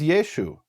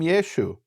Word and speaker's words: Yeshu: They didn't pronounce the ayin, so Yeshua became Yeshu.